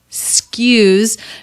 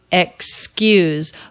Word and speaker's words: excuse: everyone stress on skews notice the word is not excuse but it's skews she turns it into one syllable this is pretty common so the letter x here represents two sounds k and s excuse but it's not uncommon to drop the first vowel and drop the k and just say skews skews s sound k